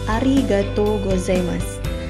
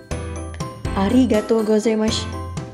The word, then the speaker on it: arigatou gozaimasu: bisa shiburi terima kasih dalam bahasa Jepangnya adalah arigatou gozaimasu diucapkan ketika berterima kasih kepada seseorang dan ini merupakan